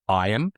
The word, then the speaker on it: Ian: But he's very like egotistical, and even from the point that his name is Ian, but everyone pronounces it Iron for reasons that I assume is just that he wants to sound cooler.